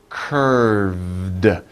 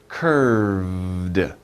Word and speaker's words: curved: little hard to pronounce curved remember the v sound right in the middle and you make a little vibration with your throat so curved curved and then you stop it with the d sound curved curved so